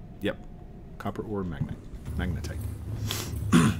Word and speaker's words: magnetite: Just need copper or magnite. Yep. Copper or magnite. Magnetite. Magnite. I keep saying it wrong.